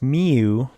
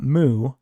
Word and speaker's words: mu: and the parameter we use is mu okay pronounced miu not mu okay mu mu okay mu that's that little